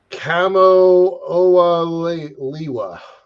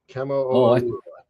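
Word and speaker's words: Kamoʻoalewa: It's Hawaiian, so it's hard for me to pronounce it, but it's Kamo-Oa-Liwa. Kamo-Oa-Liwa.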